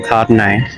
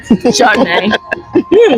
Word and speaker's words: Chardonnay: Do you say Chardonnay or Cardonnay? Chardonnay. We do say Chardonnay. We do pronounce that H.